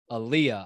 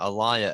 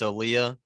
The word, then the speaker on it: Aaliyah: dude her name is aaliyah i don't know what name you're saying it's pronounced just like the singer's name yeah well i mean